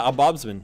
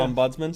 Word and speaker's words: ombudsman: Yeah, oddsbodsman.